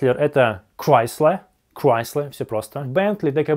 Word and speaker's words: Chrysler: Chrysler — это Chrysler.